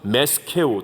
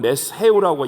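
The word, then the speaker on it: מֶשֶׁךְ: 그리고 메섹이라는 말이 나오는데 여기에 히브리 발음은 메스케우 또는 메스헤우라고 얘기하거든요.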